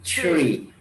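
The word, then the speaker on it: three: Ya, maka kalau 3 dia ada H di situ, maka dia dibacanya tebal, tree, tree, bukan tree tetapi tree.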